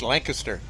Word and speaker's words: Lancaster: Jacob is waving around I gotta make a slight correction to your pronunciation after me traveling through the Pennsylvania area it's Lancaster that's how they produce Lancaster all right like Newfoundland